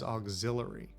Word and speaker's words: auxiliary: do you pronounce that is this auxiliary or is it auxiliary I think it should be auxiliary but I think everybody says auxilary Hogg's trying to pull